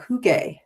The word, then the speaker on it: hygge: it and she said you have to make the sound of oo. No, you make the sound of e but in the lip pattern of oo.